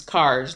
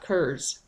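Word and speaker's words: Kerr's: RR apostrophe s but the scotch-irish pronunciation is cars not curves they settled here in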